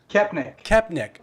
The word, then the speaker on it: Koepenick: how do you say your last name kepnik i am so like i am so phonetic